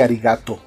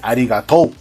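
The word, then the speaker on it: ありがとう: Claro, o sea, es como que yo me ponga a hablar japonés y venga un japonés y me diga, no se pronuncia así, arigato. Se dice arigatou.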